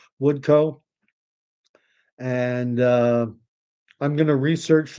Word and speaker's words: Woodcock: Sharpless, Janet Woodcoe or Woodcock, but usually I find when COCK is at the end of a name, it's Scottish and it's pronounced Co, Woodcoe.